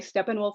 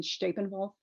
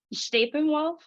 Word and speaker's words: Steppenwolf: else most people say Steppenwolf but I'm kind of pretentious I use the German pronunciation shape involved stapenwolf I realize most English